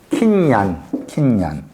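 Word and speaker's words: קִנְיָן: 킨야. 킨. 발음을 얀. 킨얀.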